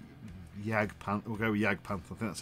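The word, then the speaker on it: Jagdpanther: panther we had yag pant we'll go with jag panther that's how you pronounce it um won those and it's got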